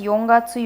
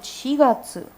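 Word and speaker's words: 四月: You will not read this as yongatsu. Yongatsu is wrong. This is one of the few places where the actual shi pronunciation of the kanji is retained, and you will call it shigatsu. So just a note, yongatsu or yogatsu is wrong. It's wrong, okay?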